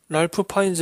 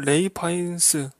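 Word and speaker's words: Ralph Fiennes: 갤 카 도트 고요 랄프 파인즈 는 레이 파인 스 라고 했다고 합니다 이제 외국 이름은 한국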